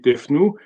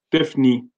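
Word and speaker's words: Tefnout: Tefnou, son nom existe jusqu'à maintenant, bon, là c'est marqué Tefnou, mais normalement ça se prononce Tefni.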